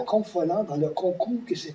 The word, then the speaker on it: Confolens: On ne savait même pas comment le prononcer. Guy Landry disait Confolens. Tout le monde disait Confolens. Remarquez bien que ce qui n'était pas une erreur en soi, parce que c'était d'origine latine.